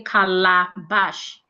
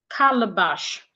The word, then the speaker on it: calabash: So in this word as well we stressing the first syllable cal. Naturally we're supposed to say kala bash kala. But the second the second letter a there will not sound a again. It becomes a sure.